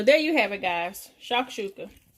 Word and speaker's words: shakshuka: So hubby just came home, and he's about to taste the shakshuka. So I already prepared his piece for him. Okay. How do you pronounce it?